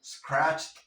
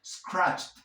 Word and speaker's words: scratched: So, QWERTY scratched up the couch. Scratched, scratched. Como tienes la che, es un sonido fuerte, entonces vas a pronunciar la D como una T y te comes la E.